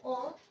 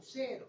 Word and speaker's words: O: No se dice grupo 0. Está bien que la O se parezca a un 0, pero 0 significa 0 antígeno. Y no es así.